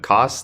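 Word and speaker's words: Co$: say it wrong, but Cos, like CO money sign. Is there did I say it correctly? Yeah. So is there a particular reason you changed it? Well, I was always Cos is.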